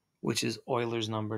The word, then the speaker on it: Euler: his name is Euler it's not spelled Oiler though sounds like Euler some people do say Euler but it's actually pronounced Euler and Euler's number is